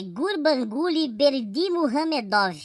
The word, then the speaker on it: Gurbanguly Berdimuhamedov: Palmas pro Gustavo por essa pronúncia. É Gurbanguly Berdimuhamedov.